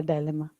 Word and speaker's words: dilemma: so the sound is dilemma yeah dilemma a dilemma in american confusion and then americans says dilemma british says dilemma yeah remember that okay